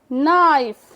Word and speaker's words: knife: नाइफ, knife, K is a silent letter, knife, white, white, time, time.